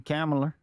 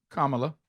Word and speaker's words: Kamala: You and I mean Camela, whatever it is. Kamala. Kamala.